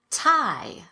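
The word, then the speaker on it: Thai: The most common exceptions are words that are spelled with TH, but pronounced as t, or the T sound. Let's go through them together. Repeat after me. Thomas. Teresa. Tie.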